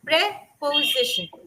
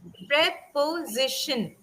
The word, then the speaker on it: preposition: It's a four syllable word. Preposition. Preposition.